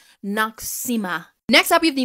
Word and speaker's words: Noxzema: I mentioned it in my TikTok way back when, and I actually pronounced it wrong. Noxzema.